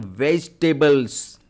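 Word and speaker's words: vegetables: यहां पे बच्चों ध्यान रखेंगे ये ई साइलेंट होता है। तो आपका उच्चारण क्या हो जाएगा? Pronunciation वेज टेबल।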